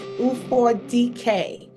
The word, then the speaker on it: Ufodike: My last name is Ufodike. So if you just say Ufor, the letter D and K, that's how you say it.